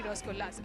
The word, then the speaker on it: Rasgulla: Lost count of how many Rasgullas. Okay, so how do you say it? We say it Rasgulla.